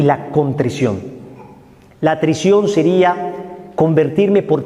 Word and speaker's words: contrición: existe la contrición ojo no se dice contricción ni atric aunque parece uno disléxico se dice contrición y atrición la atrición Me convierto